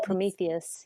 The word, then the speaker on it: Prometheus: Um, I did also upload it to, and I don't know that I know how to pronounce this right, but Prometheus. Oh, Prometheus.